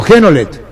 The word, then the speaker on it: Genolet: Si hay un error de pronunciación de apellido, corregime, ¿es Geno o Lleno? Genolet. Genolet, sí señor.